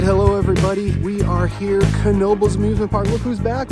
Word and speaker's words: Knoebels: We are at Knoebels, and it is pronounced Knoebels for those of you who aren't aware. It is Knoebels Resort, the largest free admission amusement park in the country.